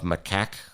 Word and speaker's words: macaque: Throngs of macaque monkeys, that is how you pronounce macaque, ran around, at times fighting with each other while the crowds of visitors and locals grew.